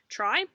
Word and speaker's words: tri: The very first part of the word, it's spelled T-R-I, try, that is actually the word that means three.